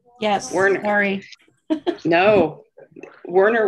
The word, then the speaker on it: Werner: we're in harry no werner with an a yes i always i used to actually get warner and i'm like nope it's an a um i've been married